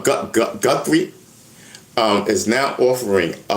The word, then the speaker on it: Guthrie: G U T H R I E is spelled Guthrie. Easy one to mix up. So, na Alexa, who's Nancy Guty? Guthrie. Nancy Guthrie is the 84year-old